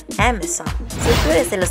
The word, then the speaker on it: Amazon: No se pronuncia Amazon, se pronuncia Amazon.